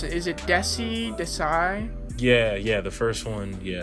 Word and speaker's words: Dessi: How do you pronounce it? Is it Dessi? Yeah, the first one, yeah, it is Dessi?